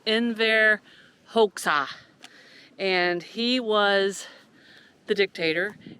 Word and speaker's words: Enver Hoxha: But I believe it is pronounced Enver Hoxha, and he was the dictator, and during the Cold War in 1968, he suffered from extreme paranoid, delusional stuff.